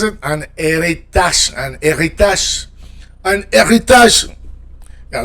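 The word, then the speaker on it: héritage: An eritage. An eritage. Anitage. Yeah, don't forget that R. The French R.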